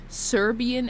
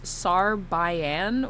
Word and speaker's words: Serbian: piss you off when some guy pronounced Serbian as Sarbayan. What? Now, how? But like, it's pronounced as it's spelled.